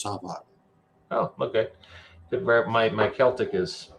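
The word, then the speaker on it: Samhain: Sam Hain of I can't think of any other synonyms for Halloween, but I am unsure on the correct pronunciation, but I believe it's Savan.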